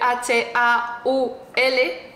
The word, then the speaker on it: haul: lo que es un Hall o como queráis llamarlo se escribe h a u l haul es un vídeo donde